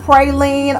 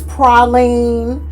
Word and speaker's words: praline: You've got praline, or as I've been told, if you're from the deep south, it's praline.